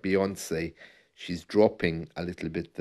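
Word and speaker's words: Beyoncé: it strange that uh the word or the name Beyonce rhymes with fiance isn't that strange I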